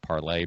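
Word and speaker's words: Parler: on parlor uh or I think it's pronounced parlay parlor but it's it's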